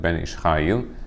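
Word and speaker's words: בן איש חיל: It's spelled Ben Ish Chai, but we pronounce it Ben Ish Chayil.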